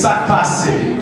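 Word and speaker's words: sak pase: And how you say it is "sac passe."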